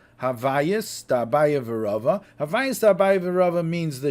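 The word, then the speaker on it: הוויות דאביי ורבא: However, the other things which we say, I think it's pronounced Havayus Da'abaya V'Rava. I looked up Rambam La'am that has Nekudis, so that's how you have the Nekudis. Havayus Da'abaya V'Rava.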